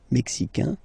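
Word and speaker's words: Mexique: Canada mexic mexic mexic it's really the mexic and then remember this Q it's only mexic okay Brazil brail okay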